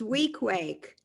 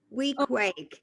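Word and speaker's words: Weequahic: It's Week Wake. Week Wake is Thank how you you.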